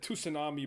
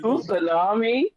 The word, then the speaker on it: tsunami: Or when my friend said tsunami back in the day, tsunami. I said you tunami. I said you don't I said you don't pronounce the T.